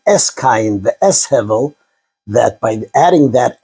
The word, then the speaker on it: Hevel: I'll just stick to Hevel, the Hebrew proper pronunciation.